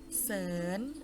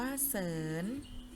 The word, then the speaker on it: เสริม: สวน อ่าน ว่า สวน เสริม อ่าน ว่า เสิน ต่อ ไป เป็น ตัว อย่าง คำ ศัพท์ ศ.